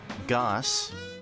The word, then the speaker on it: Gauss: here's the thing right goss g-a-u-s-s i pronounce it like goss and not gauss they're in fact my